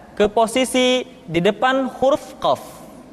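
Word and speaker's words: قاف: Huruf qaf diucapkan dengan cara menyentuhkan pangkal lidah kita dengan langit-langit bagian belakang.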